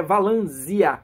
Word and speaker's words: Valansia: próprio livro diz que a pronúncia correta é valan com z tá então provavelmente eu